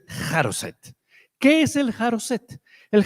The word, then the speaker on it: charoset: l se llamaba el yo no sé pronunciar hebreo, yo voy a decir charoset, pero yo me imagino que eso se dice jaroset, pero yo mi hebreo es bastante precario, pero es jaroset.